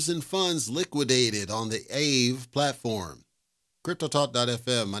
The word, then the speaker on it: Aave: I'm your host, and yes, I pronounced it AVE, and I'm going to keep pronouncing it AVE. I'm not doing this Ave Maria nonsense.